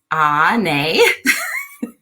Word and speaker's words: Onae: What I'm doing here tonight, if you are new to me, my name is Onae, and that's Onae.